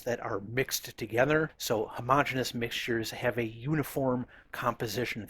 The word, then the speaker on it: homogeneous: mixtures by the way I've heard it called homog genus and homogeneous I tend to pronounce it as homogeneous I think either one is fine so homogeneous mixtures and